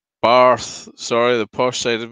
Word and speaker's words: Bath: The Flaming Tunner says, it's not Bath like you bathe, it's Barth. Sorry, the posh side of me coming out. Oh, of course. It's not Barth at all, it's Bath.